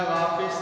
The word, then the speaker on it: वापस: ई का आगम है, ये है वापिस, मैं वापिस लौट आया। तो वापिस न होकर के वापस होता है, ध्यान रखिए, क्योंकि लिखने में वो बहुत रूप से वापिस लिखा जाता है, वापिस